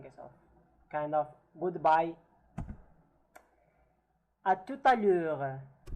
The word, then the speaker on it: à tout à l'heure: Kind of there is such a lesion between the T and the A. It's like pronounced as if it is one word. À tout à l'heure, right? Because I have said already that if the T is followed by a vowel, we pronounce it, alright?